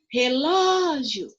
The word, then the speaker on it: relógio: Olha só, relógio. O ló é a sílaba mais forte na minha palavra aqui, certo?